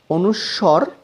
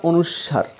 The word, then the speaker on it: অনুস্বর: টাও এরকমই শেখাবো ত অনুস্বর বা অনুস্বার হ্যাঁ এটার সঠিক উচ্চারণ অনুস্বর আর এটার উচ্চারণ হচ্ছে